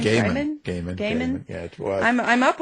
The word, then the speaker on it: Gaiman: Gaiman.